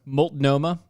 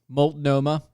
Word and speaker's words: Multnomah: Multnomah. Oh, Multnomah. Multnomah. That's how it's spelled. No, it is. It's how it's spelled. I'm going with it. Multnomah.